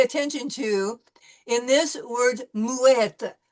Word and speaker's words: muette: to in this word muette. We're pronouncing the T sound because we have a double T.